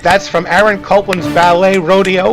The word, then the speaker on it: Rodeo: Rodeo or Rodeo as they pronounced it.